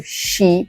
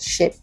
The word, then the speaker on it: sheep: of all the pronunciation so sheep and not ship because ship is something different and also remember that